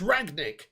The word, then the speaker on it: Rangnick: say his name properly it's ragnik it's not that hard is it for some reason the